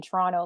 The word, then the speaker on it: Toronto: Like we never pronounce the last T.